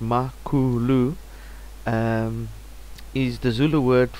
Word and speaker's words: Makulu: uh development team and um makulu which is pronounced makulu um is the Zulu word for pig Chief